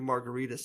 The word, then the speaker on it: Margaritis: is at Margaritas that's m-a-r-g-a-r-i-t-i-s .com and it's it's spelled it's pronounced it should be pronounced like an inflammation like margaritas but where's